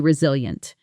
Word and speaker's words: resilient: year, but she's incredibly resilient. She always finds a way to keep moving forward. Here's a pronunciation note. The stress falls on the second syllable reil yent.